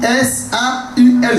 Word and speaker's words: Saul: Mais Paul, on dit S-A-U-L seulement, qui dit Saul.